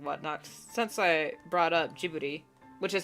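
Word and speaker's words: Ghibli: hot tapes and whatnot since I brought up jibbery which is how you pronounce it I was about to write it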